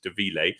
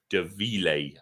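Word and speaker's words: Da Mhile: And yeah, and it's a Scotch Gaelic word that trips everyone up. No one knows how to say it. Every time I say De Ville, people are like, what? Who's that? I've heard of De Mille, who's De Ville, but it is, I've been taught how to say it by many members of their staff and by their owner, and it is De Ville.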